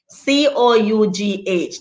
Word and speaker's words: cough: look at these words c-o-u-g-h that gives you cough how does how does the f sound come into that and then look at